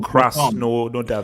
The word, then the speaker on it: Krasnodar: I can't even pronounce their name. But anyway. No, Vilton. Vilton. Don't they're called Krasnodar.